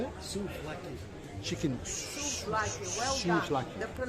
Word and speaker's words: souvlaki: Like you, chicken souvlaki. Chicken. How'd you say it? Souvlaki. Chicken. Souvlaki, well done. Souvlaki. The pronunciation is absolutely perfect.